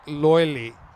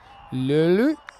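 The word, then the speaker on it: Löyly: Lulu? Not bad. Not bad. That's my best. That's no. You've got the It's front pronounced half of it. L-O with the double dots. Reminds me of German, so Le.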